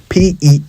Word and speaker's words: peasant: Peasant. P-E-A-S-A-N-T. Have you heard some people pronounce it as peasant? Well, it's peasant.